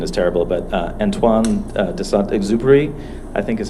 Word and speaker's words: Antoine de Saint-Exupéry: Yeah, and my French pronunciation is terrible, but Antoine de Saint-Exupéry, I think is how it's pronounced, is the